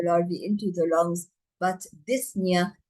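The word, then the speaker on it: dyspnea: It's not only cough that results from passage of the larvi into the lungs but disna or difficult breathing. We do not um um pronounce the p.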